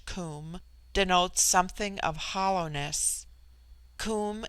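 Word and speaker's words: coom: immortal spirit vidya immortality comb pronounced like the welsh comb denotes something of hollowness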